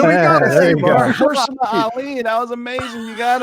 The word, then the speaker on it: Mahershala Ali: Mahershala Ali. Yeah, here we go. There you go. Mahershala Ali. That was amazing. You got it on the first try. All right. Well, Mahershala Ali called up Marvel and said, "I want to be Blade."